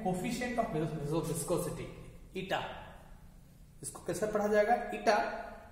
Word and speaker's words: eta: This proportionality constant is called where ईटा, इसका pronunciation क्या करेंगे, ETA ईटा, ठीक है, is called coefficient of viscosity, is called coefficient of viscosity.